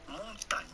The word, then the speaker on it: montagne: So how do you go about pronouncing this with the typical French pronunciation? Simply montagne.